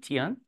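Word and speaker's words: 天: It's pronounced tian.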